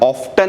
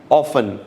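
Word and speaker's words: often: ऑफन, ऑफ्टन नहीं, ऑफन। टी यहां पे साइलेंट रहेगा।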